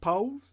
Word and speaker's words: poll: It's like it's pronounced like flagpole, isn't it? Poles, Poll. I know it should be like Paul. It looks like it should be Paul, but it's pole.